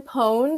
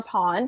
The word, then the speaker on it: pwned: family have i been pwned or pawned however you want to pronounce it it is a website